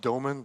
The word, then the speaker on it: Doomen: Uh yeah I'm from the Netherlands. Actually it's pronounced DomenA but who cares?